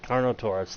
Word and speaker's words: Carnotaurus: what car nada Sarkar no sir carnal ice Carnotaurus thank you okay we'll go out this gate